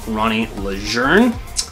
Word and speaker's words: Lejeune: Okay, Perfectly Rawsome is run by Ronnie Lejeune. If you look at her name, it doesn't sound like that's how it sounds, but that's how you say it.